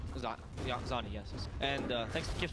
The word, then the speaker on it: Xannii: Xannii, right? Xannii, yes. And thanks to Kips, by the way, for the pronunciation.